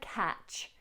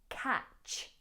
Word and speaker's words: catch: Now, in the word catch, ignore the T, but make sure that you don't soften the CH. It's pronounced ch, not sh. So we have catch, catch, catch 22.